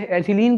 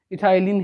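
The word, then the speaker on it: ethylene: Hindi medium के students इसे एथिलीन कहते हैं, लेकिन इसका रियल प्रोनाउंसिएशन इथाइलिन है।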